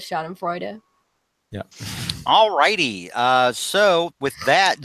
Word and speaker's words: Schadenfreude: I just have to Carnage. pronounce that E at the end of Schadenfreude.